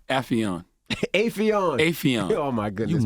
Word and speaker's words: Affion: Affion. Affion. Oh my goodness, You man. motherfucker. Mr. Crockett. That's what Russell said. He said Affion. It's very. He never said it the correct way. Affion sounds smarter.